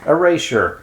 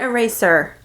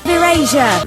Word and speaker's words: Erasure: Erasure. Erasure. Not eraser. Is that right?